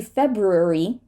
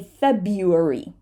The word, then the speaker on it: February: so question for you how many r's are we going to say in this word on the slide one r or two r's American the answer is whichever works for you so some people American